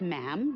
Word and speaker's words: ma'am: and after that it's just ma'am rhymes with Jim and it's always a